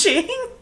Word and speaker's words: Sean: And Sean's like, yeah, it's just pronounced Shane.